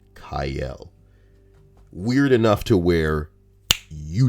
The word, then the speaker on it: Cyael: It's a very weird name, Cyael, and it is pronounced Kyle.